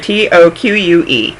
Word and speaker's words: toque: FYI, everybody who has a problem pronouncing T-O-Q-U-E. It's toque. It's toque. I'm from Canada. We say it all the time. It's a toque.